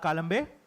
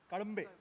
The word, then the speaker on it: Kadambe: Next we have Mr. Malhar Kalambe. Kadambe. That's the correct Marathi pronunciation.